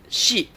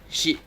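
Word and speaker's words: し: You pronounce it and write it as shi, S-H-I. And the pronunciation is just like she in English, like she is a girl, like that.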